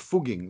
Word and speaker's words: Fugging: No, but it's pronounced Fugging.